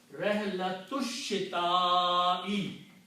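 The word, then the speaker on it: رحلة الشتاء: So you do not pronounce this alif. And when you don't pronounce this alif, you take the harakat on alif and change with a small swad, which means don't pronounce it. Hamzatul wasl. So the word now becomes Rihlatush Shita'i. The combination now became Rihlatush. You have to combine this sheen. Rihlatush Shita'i. Meaning will be journey of the winter.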